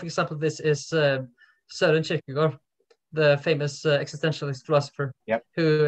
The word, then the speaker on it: Kierkegaard: In Danish, it's probably more like what I pronounced. It's how you would say it in Norwegian. Kierkegaard.